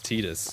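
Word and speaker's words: Tidus: That is the correct It is Titus, because that's how they say it in the Dissidia games where the characters are all voice acted and talking to each other.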